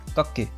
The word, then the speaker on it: 学: history of these kanji today's kanji is study pronounced goku this character is taught